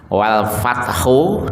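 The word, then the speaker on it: والفتح: Apabila waqaf berhenti dua huruf dari belakang itu mati atau sukun dibaca e lemah. Wal fatah. Wal fatah. Lemah. Tidak. Wal fatah. Enggak. Wal fatah. Ha tetap tampah. Tapi pelan. Wal fath ya.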